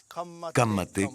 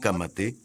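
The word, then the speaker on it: Ka mate: Il y a quelques mots qu'il faut apprendre à prononcer. Répétez après moi. Kamate Kamate Kaora Kaora.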